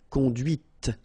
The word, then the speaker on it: conduite: And that's when you hear the difference between conduit, because remember, final T is not pronounced, conduit, here, and then the feminine, conduite. Okay, so here you can listen to this t, okay, conduite, all right?